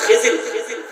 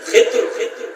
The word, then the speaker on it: খিজির: হযরতে মূসা কালিমুল্লাহকে আল্লাহ বলছে, হে মূসা, আমার এক বন্ধু আছে, আমার এক মাহবুব আছে, তার নাম খিজির। তিনটা স্পেলিং এটা উচ্চারণ, খিজির, খিতুর, আর একটা হলো খাদির।